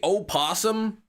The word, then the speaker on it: opossum: The O at the beginning, the same thing. O is silent. What? You tell me opossum is not a thing?